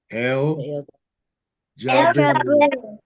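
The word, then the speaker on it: Al Jabbaru: The new word that we'll learn today is El Jaberu. El Jabaru. Yes, El Jaberu. Come on. El Jaberu. Yes, that's it. Jama. El Jaberu. El Jaberu. Jabaru. Yes. El Jaberu. El Jabaru.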